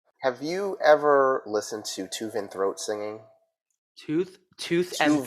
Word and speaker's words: Tuvan: v a throat singing tuvan throat okay not tooth and throat people tooth and throat